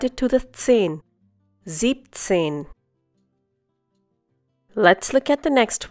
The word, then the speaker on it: siebzehn: Siebzehn. Instead of siebenzehn, you say siebzehn. Once again, siebzehn. In this case, you remove the en from sieben and add it to the zehn. Siebzehn.